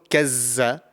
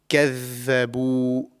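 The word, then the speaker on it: كذبوا: So it's not kazza, it's كَذَّبُوا.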